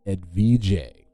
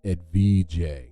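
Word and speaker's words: Edvige: siblings were Arnaldo and Ed Vijay which I'm guessing is more like you know um it's spelled e-d-v-i-g-e which is this American Mouth just gives Ed Vijay you know as a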